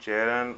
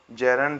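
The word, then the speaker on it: gerund: अच्छा, एक बात याद रख देना क्लियर, कि जो जेरंड है जेरंड है उसका जीरंड प्रोनाउंसिएशन नहीं होता, उसको जेरंड पढ़ते हैं और जेरंड ही बोलते हैं।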